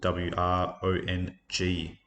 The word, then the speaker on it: wrong: And wrong, silent W. So W-R-O-N-G for wrong.